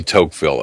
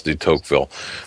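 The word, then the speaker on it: Tocqueville: get into toille thank you I'm sorry D teville Alexis dville thank you for that phonetic uh pronun assistance in pronunciation Alex Alexis the teville for those of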